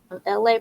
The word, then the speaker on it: ELAY: LA, pronounced like LA, like the city.